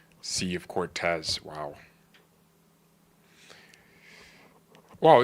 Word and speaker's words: Cortez: There's a sea of Okay, but you said it wrong. You said Cortex. Cortez makes sense.